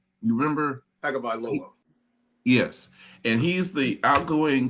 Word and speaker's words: Tagovailoa: I forget how to pronounce his last name. You remember? Tagovailoa.